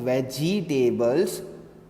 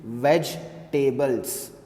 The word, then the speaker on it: vegetables: please write the spelling v e g e t a b l e s now you call it veggie tables no it is not veggie tables it's veg tables this e is silent it's vegetables okay now